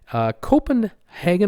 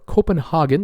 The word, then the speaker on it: Copenhagen: a cruise ship in Copenhagen köppen hanging or Copenhagen depending on how you like it pronounced they made an announcement